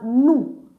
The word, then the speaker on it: nous: So that's why it's pronounced as new, not loose. So this S is just here, but it's not pronounced.